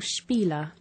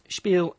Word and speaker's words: spiel: Spiel it's not an English word is it? The shh sound at the beginning with the spelling sp. It's not really common in English words is it?